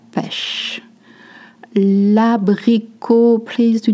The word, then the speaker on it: pêche: This little accent, le hat, is called accent circumflex, and you make a sound. E is short, your lips are stretched. E, la pêche.